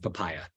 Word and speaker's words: papaja: it possible is called papaya spelled papaja um because I'm a silly American but it's actually a German package um written by Frederick oust it's an amazing contribution uh and you pronounce it papaya so uh the basic